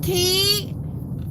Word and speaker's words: Key: Hey, Key. Y'all check out with Key. Y'all, great creator in these YouTube streets. And it's pronounced key like the key you put in a door.